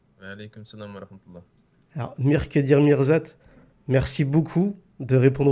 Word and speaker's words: Mirqedir: Alors, Mirkedir Mirzat, merci beaucoup de répondre aux questions d'Oumavox. Merci à vous. Alors, est-ce que je prononce bien déjà le prénom Mirkedir, c'est ça?